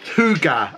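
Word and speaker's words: Hooga: so these are from it's pronounced hookah apparently food a gear and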